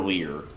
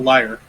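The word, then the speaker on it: lyre: Is it a liar though or a lear? It's a liar. Liar.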